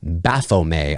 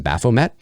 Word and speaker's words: Baphomet: winged hermaphrodite known as Baphomet, I believe is how you pronounce that in French. In English, I believe it's just Baphomet, flanked by 2 smiling children.